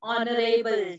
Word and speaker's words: honorable: So remember, an honorable chief guest. Honorable. It begins with H. But yes, when you pronounce the word, your pronunciation, the sound, it comes as a vowel sound.